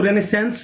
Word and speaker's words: Renaissance: कुछ लोग इसको रेनेसेंस बोलते हैं, सम professors pronounce it like रेनेसां।